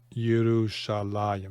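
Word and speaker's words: ירושלים: And Shalem, okay, or Yerushalayim. This is written defectively. There's a yud that you pronounce that isn't written.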